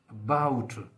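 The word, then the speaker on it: about: number का sound है जैसे for example अबाउट ए बी ओ यू टी अबाउट तो इस पर जो फोकस है जो स्ट्रेस है वो बी पर है ए बी ओ यू टी अबाउट जो शुरू का ए है वो बोला जा रहा है लेकिन उस परे बहुत वीक अबाउट उसी तरह से एक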